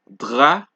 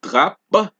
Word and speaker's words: drap: As we mentioned for P as well, you do not pronounce the P at the end of a word.